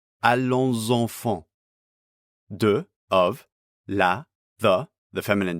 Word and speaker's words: allons enfants: We get liaison between these first two words, so the final S of allons is pronounced as a voice sound before enfant. Allons enfants.